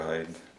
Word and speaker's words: Hyde: Apparemment qu'il faut prononcer Dr. Jekyll and Mr. Hyde, parce que c'est à l'écossaise, apparemment. Parce que c'est comme, ça rime avec Hide and Seek, donc Mr.